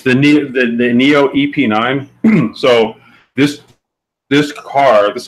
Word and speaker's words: NIO: This is the how you pronounce it? NIO. It's the Neo EP9.